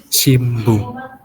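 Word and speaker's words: 新聞: Seperti dalam contoh di sini kan harusnya shin bun kan. Nah, karena di sini ada bu deretan dari babi bu bebo, jadi shimbung. Jadi M penyebutannya. Ya, ramajinya tetap shinbun. Tapi itu penyebutannya shimbung.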